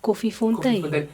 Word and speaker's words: Koffiefontein: But it would be Koffiefontein, no? You are correct. It is pronounced Koffiefontein.